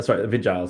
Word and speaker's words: Vigiles: So Yes, you gotta love how the vigils and the the vigiles, sorry. I mispronounce it too. My audiobook narrator does it correctly, but yeah, the there's an E vigiles. on the end, so Um that's Vigile, exactly right?